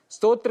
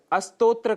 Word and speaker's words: स्तोत्र: स्तोत्र के स्थान पर अस्तोत्र का हम उच्चारण कर जाते हैं, जो कि दोष माना गया है।